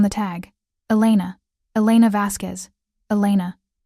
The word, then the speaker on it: Elena: Elena. He said it carefully with the correct Spanish pronunciation that most people didn't bother with.